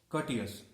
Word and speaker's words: courteous: Next one is courteous. Here R is silent.